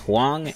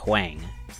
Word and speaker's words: Huang: It's pronounced Huang and not Huang.